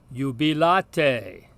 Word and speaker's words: jubilate: So even though there is no consonantal Y in Latin, we see the sound represented by this either consonantal I or the letter J. So, for instance, this word is pronounced jubilate, rejoice.